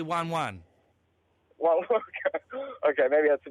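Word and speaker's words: ワンワン: The Japanese would pronounce wan wan.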